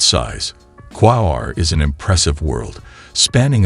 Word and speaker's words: Quaoar: As we voyage deeper into the captivating cosmos of the Kuiper belt, we find ourselves in the company of Quaoar, pronounced Quaoar, a notable object that predates most discoveries in this icy frontier.